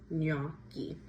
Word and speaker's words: gnocchi: And I hear a lot of people saying gnocchi wrong. I've heard gnocchi or gnocchi, but the G is silent, so it is gnocchi.